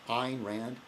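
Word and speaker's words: Ayn Rand: that you know and the Iranians that it's pronounced Ein Rand um very upsetting we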